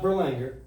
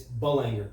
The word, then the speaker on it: Belanger: the names is burlinga no it's not burlinger it's bull anger yeah I know but